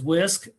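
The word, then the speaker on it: WSCC: And so the whisk whole school whole community whole child model um the as I said pronounced as whisk there are 10 components that we focus on and that's in the blue area.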